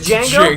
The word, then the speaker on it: Django: Just Django? Django. D is silent.